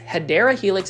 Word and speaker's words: Hedera helix: And then right over here, we are going to start talking about Hedra Helix or what you call the hedera helix. Hideera helix is the correct way to say it.